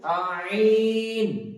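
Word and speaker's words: عين: তো কণ্ঠনালীর মধ্যস্থল থেকে উচ্চারিত হবে আইন।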